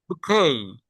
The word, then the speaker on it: bouquet: ই টি বুখেই হাউ ডু you pronounce ইট বুখেই বুকেই এইতো এটা পারলেন কিভাবে বাহ আমি এটা